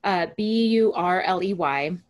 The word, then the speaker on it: Burley: So her name is Kay Burley, I believe is how you pronounce her last name, Burley.